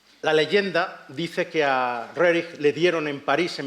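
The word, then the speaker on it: Roerich: este señor Nicol rer yo lo pronuncio en ruso es rerich pero no me Y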